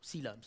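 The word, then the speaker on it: coelom: getting to this now sea looms now that's a big word it's spelled completely not like it sounds maratha yes it looks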